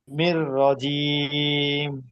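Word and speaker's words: الرجيم: ঠিক আছে মিনাশ শাইতানির রাজিমশাইর রাজিম শেষে তিন আলিফ হবে।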